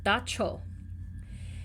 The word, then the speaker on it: dab tsog: And and according to the paper, it's pronounced dacho.